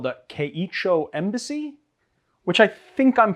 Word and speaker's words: Keichō: to say it is kecho so that's really it's really close it's just a matter of emphasis with the little line over the o that means it's longer so it's just a long oh yeah yeah it's not